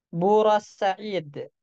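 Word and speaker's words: بورسعيد: dengan harakat fathah makanya contohnya bu Said ini dibacanya bur Said ya Nah karena Said di sini nanti dihukumi seperti tak marbutah coba lihat setiap yang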